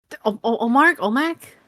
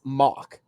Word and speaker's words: Omok: Olmec? No, so the way you pronounce his name is Mock.